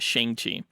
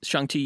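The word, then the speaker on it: Shang-Chi: chi movie nice pronunciation i'm still trying to get in the hang of not pronouncing it shang chi but cj said that he can't wait to see what styles shangti uses in the film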